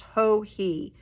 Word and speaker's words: Joji: is all lower case hohi j-o-j-i it's pronounced ho he so ho he fall f-a-l-l-k-a-l knit along 2023.